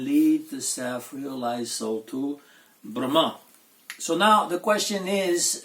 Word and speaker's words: Brahma: In a neuter gender, we have Brahman. Brahman is in the neuter gender, and Brahma with a long A is masculine gender and designates the Lord of creation, the God, Chaturmukha, 4-faced Brahma.